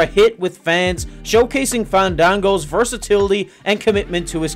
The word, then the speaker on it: Fandango: and Unforgettable in 2013 fan Dango danced his way into WWE complete with ballroom dancing attire and a pension for correcting everyone on the pronunciation of his name fond dang go with his dance partner